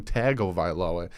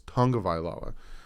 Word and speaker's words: Tagovailoa: a tongue of iloa people still call him tagovailoa it's not pronounced tagovilo it's tonga vaila what is a samuguavan